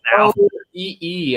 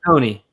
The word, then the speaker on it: Oconee: I wasn't even in the same syllables. Like, I wasn't even anywhere in the same. OCOEE, I think, or something like that. What was it? OCOEE, I think. Yeah, Oconee.